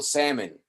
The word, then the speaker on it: salmon: Generalmente L con M no se pronuncia la M. For example, salmon.